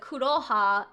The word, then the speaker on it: Kuroha: like Vodkasan Vodkasan like mispronounced my name and said like uh koku koku instead of kuro yeah kun instead of kuro kuroha how he didn't know